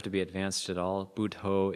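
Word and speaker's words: Buddho: be Advanced at all budho is budha with an O on the end instead of an A so b u d d h o so two syllables b d and then d h buo it means the awakened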